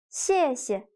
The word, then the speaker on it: 谢谢: For example, do you still remember how to say thanks in Chinese? 谢谢. The second character is pronounced with a neutral tone.